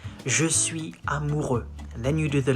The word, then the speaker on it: je suis amoureux: You say, je suis amoureux.